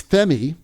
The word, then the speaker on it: Femi: Anyway, so our last question of the day is Femi, F-E-M-I, and I think that is the correct way of pronouncing it.